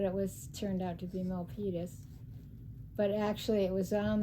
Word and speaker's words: Milpitas: Milpitas, which we never heard of, so we pronounced it Milpitas. We weren't sure how to pronounce it, but it turned out to be Milpitas.